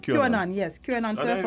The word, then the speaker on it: QAnon: So that's how it's pronounced? QAnon, yes.